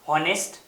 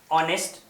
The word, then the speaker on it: honest: Okay, most of the students pronounce honest, but actual pronunciation is honest. That means here the h is silent.